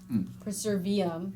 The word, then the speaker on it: Preservium: Perseverum. yeah, Perseverance. Yeah, Perseverance. Preservium, not perseverum.